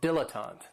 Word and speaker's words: dilettante: And this word has 3 syllables, and there's kind of like a stress on that first and last syllable, dilettante.